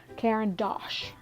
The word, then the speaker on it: Caran d'Ache: Okay, so I just hope that I can pronounce this. Caran d'Ache or Caran d'Ache. It's Caran d'Ache.